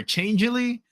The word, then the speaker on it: Changelly: Is it chang or changely? But either way is fine. Yeah, ch changely is the way we pronounce it.